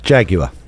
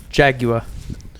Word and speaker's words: Jaguar: week Jaguar I think repeat after me Ben Jaguar Jaguar bloody good Jaguar Jaguar yes Jaguar Jag we